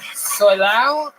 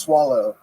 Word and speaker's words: Solao: Solao? It's actually pronounced swallow.